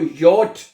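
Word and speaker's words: J: है जे है जो है उसको यट पढ़ते हैं जर्मन जुबान में और आपने ये की आवाज से इसको प्रोनाउंस करना है।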